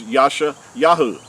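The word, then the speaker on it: ישעיהו: was never called Isaiah his name is in Hebrew is Yasha Yahoo and his name translated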